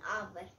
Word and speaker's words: hour: For example, an apple, an umbrella, an hour. Here H is silent, so an hour.